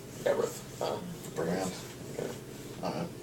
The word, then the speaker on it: Gabranth: I have to say Gabranth. Gabrith. Gabranth. Okay. I don't know. Gabrant, that's how you pronounce it. I've always called him Gabrith.